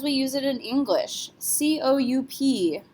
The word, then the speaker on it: coup: use it in English, C-O-U-P. How do we pronounce this word? P is not a careful letter, so we're going to say coup.